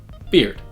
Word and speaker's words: beard: Now the E and A in this word are pronounced I. It's a lax front high vowel, and it sounds like I, beard.